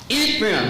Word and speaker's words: Ephraim: Ephraim.